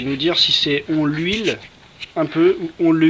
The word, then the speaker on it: huile: On le huile un petit peu. Ouais. On le huile. On l'huile un petit peu peut-être. On le huile. On l'huile un petit peu peut-être. Liaison. Non. C'est un H muet.